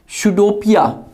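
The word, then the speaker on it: pseudopodia: It pushes out सुडोपिया, पी यहाँ silent है, सुडोपिया around the food particle and engulf it.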